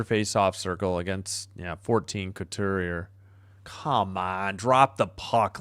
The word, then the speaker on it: Couturier: Yeah, I'm sorry I keep screwing it up. Thanks for the pronunciation. Couturier.